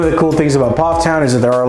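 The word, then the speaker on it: Pfafftown: in case you're interested now let's talk about Poff Town it took me forever to learn how to pronounce this one it's pronounced p-o-f-f Town Poff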